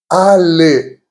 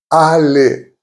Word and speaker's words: allé: Most of the time, it will be pronounced E. E. Examples: bébé, which means baby. Bébé. Donner, meaning given. Donner. Allé, meaning gone. Allé.